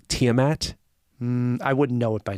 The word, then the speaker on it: Tiamat: Tiamat so and they they definitely pronounce it Tiamat not tmat like in D and D yeah all right how